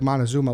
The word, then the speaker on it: Montezuma: you go back there much what's what's like montezuma like that's how i pronounce it right yeah you actually pronounced it